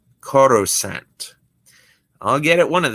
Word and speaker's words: Coruscant: Cussicant? You still can't pronounce it? It's a tricky name. Cuckicant? Coruscant.